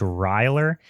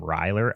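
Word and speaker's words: Ryler: It's like Tyler and Riley mixed. It's Ryer. I would assume that is a joke name. It's got to be. But if if I ever meet a kid named Ryer, I'm going to front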